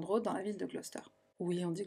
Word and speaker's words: Gloucester: Ils emménagent alors au 25 Midland Road dans la ville de Gloucester. Oui, on dit Gloucester, on dit pas Gloucester. Pourquoi il y a une syllabe au milieu qu'on prononce pas?